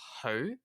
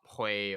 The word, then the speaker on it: Hui: Her last name is actually pronounced Hui, from her Cantonese name Hui On Hua, and it's not Hui or Xu or anything like that.